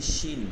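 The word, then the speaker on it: ش: এইরকম মুখ থেকে আওয়াজ করতে হবে এটা হচ্ছে শিন শিন তালে বস্য এর উচ্চারণ থেকে শিন শিন শিন শিন এটা অনেকের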